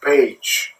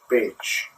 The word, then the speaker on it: Pécs: It is pronounced Pécs. It's P-E-C-S, but the pronunciation is Pécs.